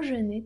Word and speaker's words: jeûne: sobie pyszne rzeczy, bo jeûner to pościć, przechodzić jakby na dietę, nie jeść. Après Noël, je jeûne. Après Noël, je jeûne. Jeûne. Tak to wymawiamy.